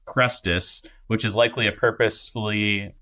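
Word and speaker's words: Chrestus: disturbances taken place in the name of it's pronounced cresus which is likely a purposefully misspelled word Christ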